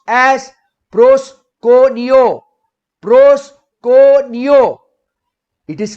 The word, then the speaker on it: proskuneo: Now, this word worship in Greek, the Greek word worship over here is pronounced as proskuneo.